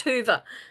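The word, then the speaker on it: Whova: platform that's used is I think of Hoover the vacuum cleaner that's how it's pronounced Hoover thank you I learned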